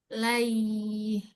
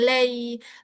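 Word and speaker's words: عليه: Lai, jangan lay. Lai. La. I. Dibaca lai.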